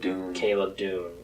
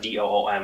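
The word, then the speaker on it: Dume: Yeah, so Caleb Doom. Doom. It's spelled weird. It's not Doom. It's like Doum, or I don't know. It's spelled really strange, but it's Doom.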